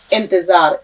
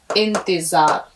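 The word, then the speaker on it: انتظار: जबर ता जो अलिफ जबर जा रे साकिन इंतजार इसको आपको बारबार करके देखना है क्योंकि अगर नहीं करेंगे तो फिर भूल जाएंगे इस तरह लीजिए मेरे हाथ पर नजर रखिए इंतजार यह इंतजार भी एक इम्तिहान होता है और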